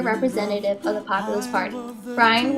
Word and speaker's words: Bryan: Bryan, which rhymes with lion, failed to gain support